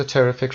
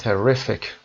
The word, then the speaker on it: terrific: تلفظ terrific رو دقت داشته باشید. terrific در قسمت R ما استرس رو میذاریم.